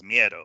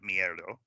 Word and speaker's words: miedo: It says Miedo, right? Not Mierdo. Miedo, Miedo.